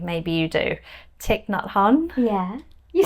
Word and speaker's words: Thich Nhat Hanh: Are you a fan of, I've really been getting into, I don't know how to pronounce his name, maybe you do, Thich Nhat Hanh?